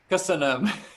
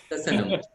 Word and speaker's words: köszönöm: Köszönöm. Köszönöm.